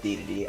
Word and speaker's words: Dedede: I know it's Dedede, I just like to say his name differently.